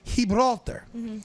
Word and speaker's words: Gibraltar: goes they don't they the G in Spain is a soft G not a hard G so instead of Gibraltar it would be Hebrew altar so I say to